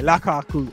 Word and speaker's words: Lukaku: Yeah, yeah, Lukaku.